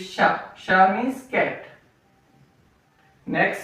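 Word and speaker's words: nez: So next sound is A. E-R and E-Z. Here R is silent and here Z is silent.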